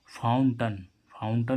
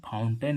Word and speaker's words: fountain: फाउंटन means क्या होता है? फव्वारा। इसको हम फाउंटेन नहीं पढ़ेंगे, फाउंटन पढ़ेंगे।